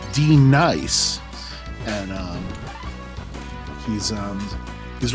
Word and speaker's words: D NICE: are d nice uh it is not pronounced denise despite appearances he is d nice and um he's um